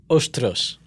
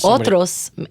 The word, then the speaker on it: otros: Ostros. Ostros. Isn't that the word? No, otros. Otros is other people.